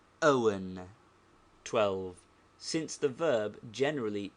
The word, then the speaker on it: Owen: is the consonant hemsa compare the bad pronunciation of Mr Owen by uneducated people they say Mr Rowan whereas the educated make a breathing pause and say Mr Owen 12 since the verb